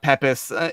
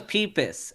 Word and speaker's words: Peepus: They also mispronounced it Pepis in the video once. It came out like a meme for 6 months. No, this is Peepus. It sounds like it's like penis, but with a P.